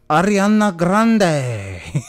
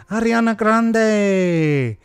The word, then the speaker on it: Ariana Grande: got uh ariana grande ariana grande and that's what it sounds like how you should say it right ariana grande she said she's supposedly